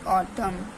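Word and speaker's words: autumn: एन के silent letter यदि एम के बाद एन आ जाए तो एम एन जो है एन साइलेंट लेटर हो जाता है जैसे की ऑम कॉलम कंडेम डम हाइम तो इसमें क्या हमारा एम जो सॉरी एन जो था हमारा साइलेंट है एम के बाद एन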